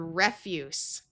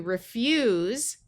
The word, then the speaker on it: refuse: Here we have the word refuse with a short E sound and the unvoiced S sound. This is a noun that means trash. When we change it to refuse, where the S has the Z sound, it means that you won't do something.